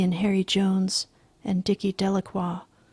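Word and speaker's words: Delacroix: Harry Jones and Dicky delaqua the villagers pronounced his name Delroy eventually made a great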